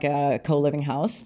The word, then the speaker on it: Houston: that know New York it's on Elizabeth and house not Houston even though it's spelled Houston yeah right it's hon how it's like how do you know you're